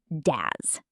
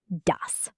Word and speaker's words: das: The s at the end of dos is a soft s, not a z sound. Ds. Not daz. dus.